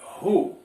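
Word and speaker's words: who: H percebam vocês que o w agora não pronuncia nesta palavra a pronúncia dela é assim ru pois bem ru significa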